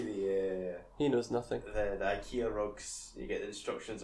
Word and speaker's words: IKEA: The IKEA rugs, you get the instructions on how to turn it into...